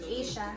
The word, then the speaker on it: Aisha: My name is pronounced Kamala. I think that's what people do with my name. My name is Aisha.